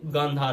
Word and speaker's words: गांधार: Actually इस time पे उसको कांधार बोला जाता है because of miss pronunciation, but actually वो गांधार है, जहाँ की गांधारी थी, जो कि कौरवों की माता थी महाभारत में।